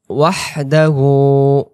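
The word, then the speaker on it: وَحْدَهُ: আজান দেয় যখন আশহাদু আল্লা ইলাহা ইল্লাল্লাহ, সে শব্দটা ওয়াহদাহু ওয়াহদাহু, ওয়াও হা জবর ওয়াহ, শব্দটা এরকম শুশু করে গলা থেকে বের হবে ওয়াহদাহু হু, এটাকে আমরা এক আলিফ টেনে পড়বো।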